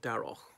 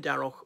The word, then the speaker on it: Darroch: ambassador sir Kim Derrick I think I pronounced it correctly Derrick not Daryl anyhow I was proud